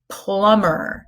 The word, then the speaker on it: plumber: plunger he is a plumber he's not a plumber he's a plumber so what letter is silent the B okay how about this